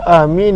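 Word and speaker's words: آمين: yang paling masyhur Bagaimanakah cara bacaan amin adalah dengan Hamzah itu panjang ya minum semestinya panjang Seba itu apa adanya ya dan juga adanya Nun yang sukun maka dengan panjang dan juga takfif apakah masuk taksif tante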